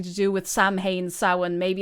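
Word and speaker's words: Samhain: is this guy called Sam Wayne because of Sam Hayne because of Sin? And I may never get an answer. See, that's the thing. It doesn't sound like sin.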